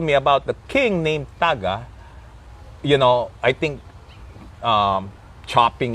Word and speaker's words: taga: But we pronounce it Taga. So not Taga, but it's Taga.